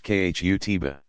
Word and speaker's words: khutbah: An address called the khutbah, pronounced khutbah, is a standard feature of every Friday congregational prayer service.